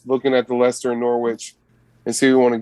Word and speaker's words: Norwich: eat for sustenance right norwich rhymes with sandwich right you know what's